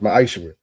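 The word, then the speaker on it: מעשר: verse 8 through 10 means tithe in Hebrew and it's pronounced ma'aser.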